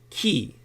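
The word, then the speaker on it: 気: the essence of life itself in Japanese it's key as in a do their version of chi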